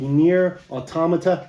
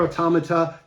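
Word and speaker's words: NieR:Automata: we are talking about the near automata that's how you say it it's not automata nir automata uh limited edition yes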